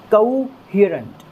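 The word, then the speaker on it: coherent: और यहाँ पर जो स्ट्रेस हमें देना है वो एक बार फिर से ह वाली साउंड पर देना है दोस्तों। ठीक है, कोहेरेंट, कोहेरेंट, कोहेरेंट, कोहेरेंट, कोहेरेंट।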